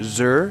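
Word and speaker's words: Xûr: where the van der zur is hiding that's the correct pronunciation x you are um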